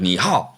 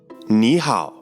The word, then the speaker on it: 你好: in Chinese Neha Neha notice how the word knee turns into a second tone when followed by the word how that's because when two